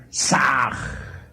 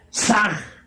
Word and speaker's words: Sah: Saj se escribe con las letras S-A-H. La H suena siempre como J.